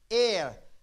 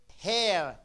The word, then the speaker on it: heir: it's not here it's air this H is silent okay good boy so he made us what he made us and not hair yeah okay he made